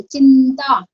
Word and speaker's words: चिंता: चिंता, आप सोचिए छोटी की मात्रा है, फिर डॉट क्यों लगाया? लेकिन इसका प्रोनाउंसिएशन नासिक के व्यंजन से हो रहा है, चिंता, है ना, नाक से हो रहा है प्रोनाउंसिएशन, तो आपको नासिक के व्यंजन लगाना है यहाँ पे, तो इसलिए डॉट।